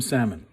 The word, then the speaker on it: salmon: i'm gonna poach some salmon yes the l is silent unless you're speaking spanish in which case it's